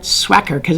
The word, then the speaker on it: Swhacker: Swacker because it makes that sound swack when it hits.